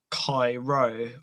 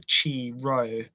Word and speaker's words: Chi-Rho: And then we have the cross with the X and the P in the center, which is the Chi-Rho or the Chi-Rho.